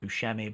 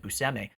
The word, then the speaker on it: Buscemi: i learned i also thought his name was pronounced buschemi but apparently he pronounces it buseme i learned that when i worked with him